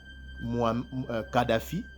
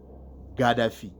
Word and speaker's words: Gaddafi: pas loin du son du kaf. Donc du son du K. Alors, vous avez par exemple Kadhafi. Et de l'autre côté, d'une autre manière, quand vous, c'est-à-dire le Kadhafi, il y a d'autres qui prononcent Kadhafi, le mot Kadhafi, et il y a d'autres qui prononcent le mot Gaddafi.